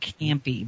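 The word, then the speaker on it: Campe: He's actually from Alabama, but his last name is spelled C-A-M-P-E, so it's a different Campy.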